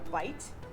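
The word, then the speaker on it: bight: More terminology, when you put a little loop like that into a piece of rope, it's called a bite, and it's spelled B-I-G-H-T.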